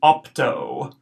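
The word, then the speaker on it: optō: here opt long o the first o short that's gonna be off so ops ii o is long that's going to be an O sound o so this whole word is opto opto why don't you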